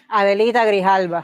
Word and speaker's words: Adelita Grijalva: Adelita Grijalva.